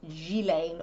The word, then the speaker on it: Ghislaine: And it is apparently pronounced Ghislaine or Ghislaine Maxwell. Not to be confused with gilet, which is a sort of padded jacket without sleeves.